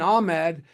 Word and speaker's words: Ahmad: So I've grown up to say Ahmed, but it doesn't sound like it when you look at it. It almost sounds like the ah is in there, Well, I'm sorry I've